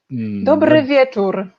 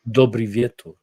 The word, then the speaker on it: Dobry wieczór: Dobry wieczór. Dobry wieczór.